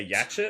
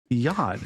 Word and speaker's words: yacht: You don't pronounce the c h.